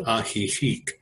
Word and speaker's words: Ajijic: Well, for the day I was with my girlfriend in a small town called Ajijic, but where I'm actually staying is a place